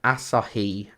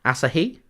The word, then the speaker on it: Asahi: thanks for tuning in as Andy says it's pronounced Asahi Asahi rather than Asahi I don't know I'm